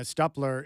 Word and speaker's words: Stupler: And right now, Michael Allen Harrison and Elena Stupler is in studio. And I was mispronouncing her name, but I got it.